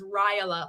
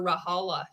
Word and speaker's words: Ryla: And that's how you say her last name is Ryla, like rye bread. Ray would always call her Rahala too.